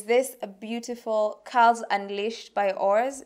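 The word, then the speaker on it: ORS: The next thing that I picked is from the same company by Oars. I think that's how you pronounce it. It's O-R-S, so I just say it's Oars, right?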